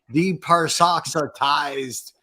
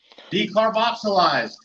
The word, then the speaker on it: decarboxylized: Deparsoxylized, right.